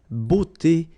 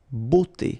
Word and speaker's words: beauté: But then it will give you the sound o, beauté, okay? La beauté.